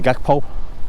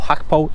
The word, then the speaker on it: Gakpo: like we're signing Cody Gakpo, or Hakpo. It depends on what commentator you want to listen to, if you want to pronounce the G or you want to pronounce the G as a H.